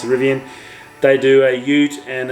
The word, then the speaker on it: Rivian: I pronounce it Rivian.